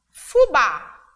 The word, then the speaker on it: fubá: mais intensidade na sílaba Então ba é a sílaba tônica é a sílaba mais forte uma mesma forma vai